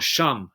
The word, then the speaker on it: Shem: And incidentally, and also Shem or Sham, how you say it in Hebrew, Sham is a very common name in India.